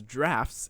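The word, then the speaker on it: draughts: tell me anyway though checkers also known as drafts in the uk is a group of strategies do you spell it differently because every article yes i was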